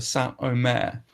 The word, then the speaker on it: Saint Omer: So yes, it looks as though it's pronounced Saint Omer. It's actually pronounced Saint Omer.